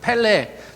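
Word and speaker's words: פֶּלֶא: 브라질사람 그 이름이 펠레요 히브리어 발음 펠라고 이름 똑같아요 발음 펠레라 하는 그 발음이 기묘자라 거야 예수님의 이름이 원더풀 기묘자라 그랬잖아요 그 펠레 놀랍다고 번역된 그 단어가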